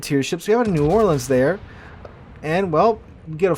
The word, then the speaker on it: New Orleans: New Orleans or nans it's New Orleans trust me I live very close to the city uh some people love to just I don't know have fun with the with the the pronunciation which you know who cares the pronunciation is whatever but apparently some people